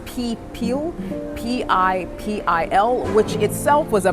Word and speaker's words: Pipil: The Spanish referred to the people of Cuscatlan as the people, or to get the pronunciation correctly, it's Pipil, P-I-P-I-L, which itself was a Mayan term, and it possibly means young noble.